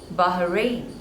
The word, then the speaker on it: Bahrain: Bahamas next one is Bahrain again there are two syllables and the stress is on the second one Bahrain Bahrain Bahrain next one